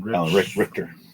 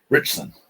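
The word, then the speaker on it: Alan Ritchson: Jack Richter guy, Alan Richter. Richter? I think that's how you say it. Richson, something like that. Richson. Yeah, that's it.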